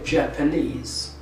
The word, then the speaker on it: Japanese: an example about that the word japan japan is the country if i want to make nationality i would say japanese and so the stress moves from the second syllable to the suffix directly and so that suffix holds the stress so this is lesson